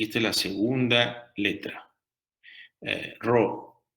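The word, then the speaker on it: Ρ: es la segunda letra, Ro, que parece una P, pero en verdad se pronuncia como una R, ¿no?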